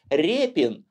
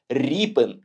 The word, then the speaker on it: Ріпин: так через 5 і російською мовою природно читається як Рєпін а от українською ви не повірите ріпинг порівняйте такі слова як ріка яка ліс і лес дід і дед тощо різна вимова ять